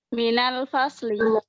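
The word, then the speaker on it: من الفصل: Kemudian min ketemu al-fasli jadi apa, Minal fasli. Minal fasli, ya. Untuk min kalau ketemu alif lam menjadi minal fasli.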